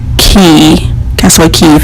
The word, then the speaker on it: Cay: I was like well why is it called key Tesla key if it's spelled ca why his comment was because it